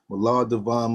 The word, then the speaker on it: Mallahdivine: Mal Divine Mal.